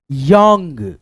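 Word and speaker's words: young: क्या पढ़ेंगे वो volt Y ओ यू एन जी यंग यंग यंग यानी अ के रूप में ओ का उच्चारण उसके बाद से डब्ल्यू ओ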